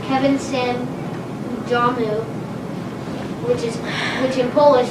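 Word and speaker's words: Kevin sam w domu: is also a famous movie although it is pronounced kevin sim udamu which is which in polish that means kevin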